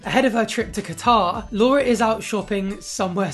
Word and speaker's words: Qatar: the bedroom you know i'd almost completely forgotten that she pronounced his guitar like that i tried to figure out if it was an american thing to pronounce qatar with a g but i think she's